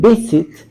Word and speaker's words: visit: Entonces, en visit, aquí yo le tengo la mayor fuerza de voz. Esta es la sílaba tónica, vi, ¿sí?